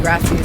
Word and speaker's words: gracias: Baby got carried away with saying gracias. I mean, every time you say something to somebody, it's gracias. He ain't even saying it right. Gracias. Roll your R.